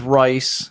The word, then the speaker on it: Rhys: One is Rice, and it's spelled RHYS. And one is Reese.